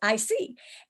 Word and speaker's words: IC: Well, you pronounce it with the letters, IC, and it's your ideal customer.